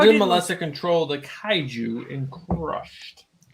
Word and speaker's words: kaiju: How How did did Melissa control the kaiju in Crushed? Kaiju. Are we pronouncing that correctly?